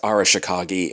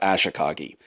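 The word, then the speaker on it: Arashikage: I'm aware it's Arashikagi and not Ashikagi.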